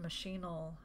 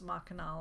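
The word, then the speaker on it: Machinal: does he'll in and machine 'el sometimes the players pronounce ma canal I've heard it both ways but what sort of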